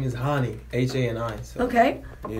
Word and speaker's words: Hani: Okay, my name is Hani. H-A-N-I. So. Okay. Yeah, you can pronounce it. That's fine. No, seriously, that's how it's pronounced.